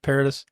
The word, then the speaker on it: Paradis: Paradis. Paradis. It's almost paradise.